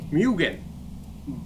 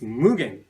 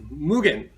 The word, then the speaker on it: Mugen: of our brand name mugen some people call mugen but which is incorrect the correct pronunciation is mugen its meaning is as you know unlimited in case you call yourselves mugen fan or mania please pronounce mugen probably from today not mugen but mugen mugen